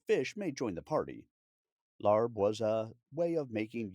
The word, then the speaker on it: larb: Larb, also found with the spelling L Aab, which is closer to its phonetic pronunciation, is a beloved culinary